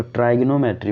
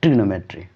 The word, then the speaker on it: trigonometry: ट्राइग्नोमेट्री, ये ऐसे पढ़ते हैं इसको ट्राइग्नोमेट्री, बट इसको हम प्रोनाउंसिएट करते हैं ट्रिग्नोमेट्री, ओके।